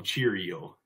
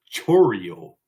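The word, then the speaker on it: Chourio: our next one um I like to call him Cheerio but that that's not how you pronounce it's Chio so it's Jackson Chio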